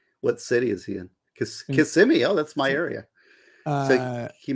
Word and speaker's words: Kissimmee: violated his probation you said kiss me it's Kissimmee Kissimmee kissing me uh that's a kis if